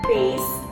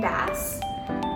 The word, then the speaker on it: bass: And last but not least, we have bass and bass. These words are spelled exactly the same with the same letters, B-A-S-S. However, when we use them in different ways, we need to make